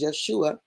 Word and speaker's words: Yeshua: And he showed me Yeshua, right? The high priest. I know it says Joshua, but there's no J in Hebrew. And the pronunciation is Yeshua.